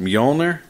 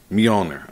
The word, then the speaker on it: Mjolnir: When I read it, it's pronounced Mjolnir. Mjolnir.